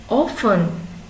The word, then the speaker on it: often: silent h last one often often often has a silent t now we are going